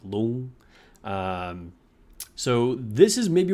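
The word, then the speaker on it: Loong: Red Loon. Uh, and by the way, there should be like a tone in there, but and it's not pronounced long or loon, but it's kind of like long.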